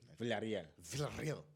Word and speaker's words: Villarreal: Villarreal.